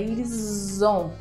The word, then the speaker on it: ils ont: Se lá no verbo être, eu falei pra você falar eles são, aqui o foco é ils ont, com som de Z, ok?